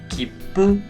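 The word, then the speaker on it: きっぷ: La siguiente palabra es kipu. Se pronuncia con una ligera pausa, porque cuando nosotros veamos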